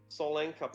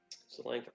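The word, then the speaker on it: Tsolenka: Solenka Pass. That's you can see the writing here. It's spelled with a T, even though it's pronounced with an S. Solenka Pass.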